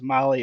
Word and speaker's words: Mahle: And for our podcast listeners, Molly is spelled Mahle.